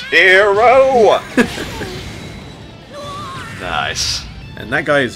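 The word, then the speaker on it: Gero: Euro there you go although it's technically pronounced hero nice and that guy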